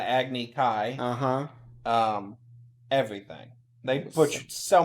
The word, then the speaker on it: Agni Kai: it was a lot acne ki yes instead of Agni Kai uh-huh everything they put